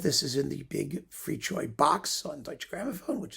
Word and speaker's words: Fricsay: Oh, it's Ferenc Fricsay. Fricchoy. Pardon me, it's Fricchoy. Ferenc Fricchoy. That's how you pronounce it, more or less.